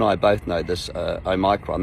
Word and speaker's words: omicron: both know this uh oh micron that's how you say it i know you don't know how to say it so let me help you oh micron you know it's greek letter of the alphabet the watch is omega